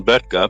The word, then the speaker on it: Böttger: Hi, I'm Böttger, but that's always very hard to pronounce for Americans. It's a B-O umlaut T-T-G-E-R. Anyway, Böttger.